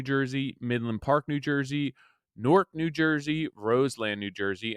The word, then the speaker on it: Newark: Midland Park, New Jersey, Newark, New Jersey, Roseland, New Jersey, and I'm pretty sure that it is Newark. That's how my wife's from up that way, and that's how she pronounces it.